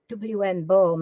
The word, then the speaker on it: Hobsbawm: B-A-W-M, Bohm. I think that's how you pronounce it.